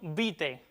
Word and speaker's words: vitae: Ese diptongo latino del final de la segunda palabra se recomienda que se pronuncie como E, aunque también se puede pronunciar como el latín clásico. Así pues, lo aconsejable sería decir curriculum vitae.